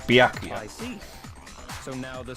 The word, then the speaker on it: Byakuya: Byakuya, it's possible you could have found out, isn't it?